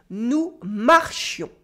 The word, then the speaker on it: marchions: Ooh, here as you notice, the e was replaced by a yon sound with a nasal on. Nous marchions. Repeat after me. Nous marchions. The S is silent again.